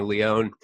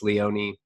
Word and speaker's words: Leone: Everybody calls me Leone. It's Leone.